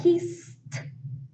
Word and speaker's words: kissed: example talk talked listen kiss the sound s comes from the front of your mouth so it will sound like kissed kissed in past right kissed parked perked